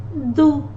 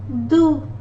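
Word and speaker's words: doux: And the last word, do, do, X is not pronounced, do.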